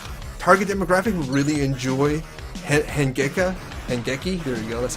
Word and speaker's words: Hangeki: I think the target demographic will really enjoy Hangeki, there you go, that's how you pronounce it.